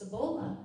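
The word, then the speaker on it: Cebula: go customize kiss and she goes no but Sabula and it's pronounced sabola in Polish and it means onion so kiss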